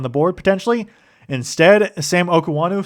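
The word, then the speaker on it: Okuayinonu: I guess that's actually how you pronounce his name from what I heard from Joe Buck. So, more vows in there than I expected, but Okuanu uh is is how you pronounce it.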